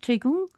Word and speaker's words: Qigong: Is it Qi Gong?